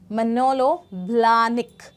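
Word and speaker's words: Manolo Blahnik: इसका प्रोनाउंसिएशन है manलो ब्लनिक। मनोलो ब्लनिक।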